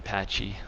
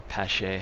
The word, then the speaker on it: Pache: batting eighth and Christian Pache or pase however people want to pronounce him playing center field and